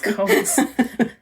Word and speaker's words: scones: Scones. What rhymes with scones? Bones.